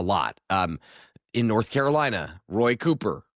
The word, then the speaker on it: Cooper: Um in North Carolina, Roy Cooper, Roy Cuper, if you want to use his pronunciation, 10.9 million.